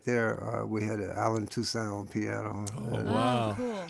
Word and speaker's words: Toussaint: And I thought, that's Toussaint. kinda Oh, weird. you mean Toussaint. with the accent on the front? Yeah, and the two, and then Saint at the end, as opposed to Yeah.